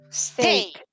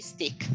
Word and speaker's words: steak: steak. Steak. The steak. Don't say stick. Steak.